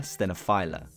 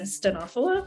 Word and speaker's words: stenophylla: It's called Coffea stenophylla, although it depends who you ask in terms of how to pronounce it. And it's called Coffea stenophylla. Stenophylla. I've been told that's incorrect. Or stenophylla. And there's also talk of